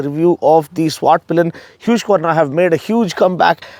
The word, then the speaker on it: Husqvarna: SWAT Pillion means the black arrow, and Husqvarna, that's how you pronounce this Swedish name or Swedish brand that has been dominating the off-roading scene and the racing, scene as well.